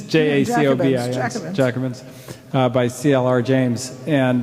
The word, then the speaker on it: Jacobins: Black Jacobins by, or Jacobins, how do you pronounce it? Jacobin. It's Jacobins, Jacobins, by C.L.R.